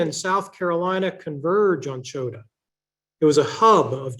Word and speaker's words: Chota: Sometimes it's pronounced Chota with an E in front of it. Sometimes it's pronounced Chota with an A at the end of it.